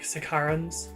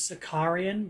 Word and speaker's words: Sicaran: the reason I like Sicarans so much. Sicarans, depending on how you're pronouncing it. I kept thinking it was Sicarian, but it's not. No A. Sorry, there's no I. Just Sicaran.